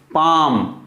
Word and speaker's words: palm: CALF काफ, PALM ये, ठीक, PALM यहां भी वही है, ए के बाद एल आया है, फिर कॉन्सोनेंट है तो एल का साउंड नहीं होगा। पाम, पाम, COULD, यही जो अभी नियम